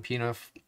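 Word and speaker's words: Pie-IX: construction's taking place on pinoff which is how you say pius the ninth in in french p means pius neuf means nine so piniff boulevard is boulevard pius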